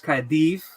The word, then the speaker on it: Caerdydd: So like double D is pronounced TH. So people see Cardiff, the Welsh name is Caerdydd, but it's not, it's Caerdydd.